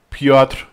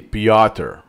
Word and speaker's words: Piotr: Piotr Wozniak, Piotr Wozniak. Most of the time I say "Pioter" I'm adding schwa, a sneaky schwa there because "pioTR" and no vowel I don't know if does